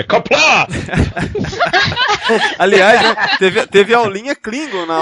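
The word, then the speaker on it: Qapla': Sua pronúncia tá errada, tá? É Kapla!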